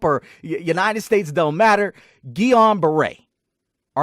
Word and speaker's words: Guillain-Barré: Easily stated, it's Guillain, however you want to pronounce it, whether you're Europe or United States, don't matter. Guillain-Barré.